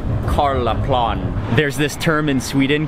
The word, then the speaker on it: Karlaplan: I think I was mispronouncing it before. It's more like Karlaplan.